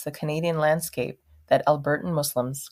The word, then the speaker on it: Muslim: God pronunciation matters and it is important to note that the s in both Islam and Muslim sound like S's and not saids the pronunciations Islam and Muslim are incorrect the correct